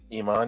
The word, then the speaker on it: Iman: I always thought that model Iman, or how do you pronounce her name? Iman, yeah.